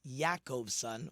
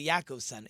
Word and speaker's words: Jacobson: supposed to be pronounced yakob son with a Y like Yakov it's really yakob son it seems either in